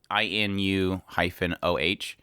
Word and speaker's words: Inu-Oh: If you guys get a chance to check that out, it's spelled INU-OH.